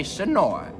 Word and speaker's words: Senoia: Locals say Sonoi rhymes with boy.